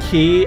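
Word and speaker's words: chi: But you have to realize she key c hi is pronounced key as in ki. They're literally the same thing.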